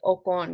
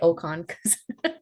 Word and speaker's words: Okon: yeah it is unique it's actually pronounced okon because it's from Mexico really but I just say okan we're in America people don't have that you know that Mexican accent but okay thank you